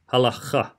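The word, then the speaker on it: הלכה: So I would pronounce it halakha, but it's supposed to be halacha. It's a really hard CH in there, but different to the ch sound that English would associate with the CH.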